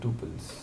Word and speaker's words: tuple: you pronounce it again is it troubles or tuples tuples it is Tuple okay so it's Tuple